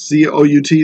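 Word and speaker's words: cout: and this down here this thing that says cou T that's pronounced C out this thing that says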